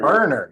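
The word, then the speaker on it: Furner: It's spelled F-U-R-N-E-R. Ferner. Ferner. Yeah, exactly.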